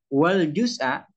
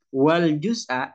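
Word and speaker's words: والجزءَ: diatofkan kepada jumlah ini, wal juz'a, begini bacanya, wal juz'a, dan bagian asgharu ialah lebih kecil, minal kulli dari keseluruhan.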